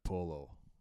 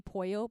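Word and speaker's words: pollo: just give me my polo what is polo do you mean poyo poyo is chicken boy you exactly pull double-l in spanish pronounced like a why sure we have some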